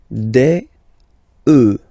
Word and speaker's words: œufs: Then, un œuf, des œufs.